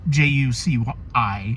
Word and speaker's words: Juci: We also follow a substitute teacher, Miss Juicy. It's Juci, so that's how I'm pronouncing it.